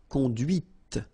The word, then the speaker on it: conduite: And that's when you hear the difference between conduit, because remember, final T is not pronounced, conduit, here, and then the feminine, conduite. Okay, so here you can listen to this T, T, okay, conduite, right?